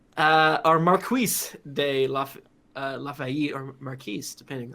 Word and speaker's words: Marquis: Lafayette says, or Marquise de Lafayette, or Marquise, depending on... Marquis? Lafayette. Marquis. Final Fantasy 12, I think, said Marquis. So I think that's technically Marquis is how you really? pronounce it.